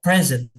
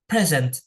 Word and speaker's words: present: selain cara pengucapan itu juga adalah penekanannya ada present ada present kalau yang present itu ditekannya di awal present present kalau yang kedua ditekannya di di suku kata yang kedua dinya present present Nah itu adalah contoh